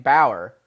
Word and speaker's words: Bauer: I asked him, do you pronounce your name Bauer? Yeah. And he said yes.